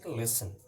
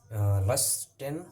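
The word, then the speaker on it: listen: এস টি ই এন এখানে টি টা উজ্জ্ব হবে টি উজ্জ্ব হবে লেসন হবে না লেসন হবে না লিসেন হবে হয় অনেকে প্রোনাউন্সিয়েশন করে but that is not right right use লিসেন okay লিসেন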